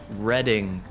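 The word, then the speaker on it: Redding: company name one word about reading the dd ing all right reading as in reading california is the key word r-e-d-d-i-n-g type reading this is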